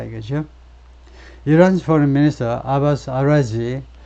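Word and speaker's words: Araghchi: 이란's foreign minister 아바스 아라지, 이란의 외무부 장관이 아바스 아라지인데 그냥 아라지라고 발음하네요.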